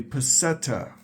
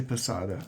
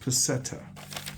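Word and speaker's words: peseta: talking about so first of all it's a petta some people say pada I it's pronounced petta okay pirate stacker it's a petta now in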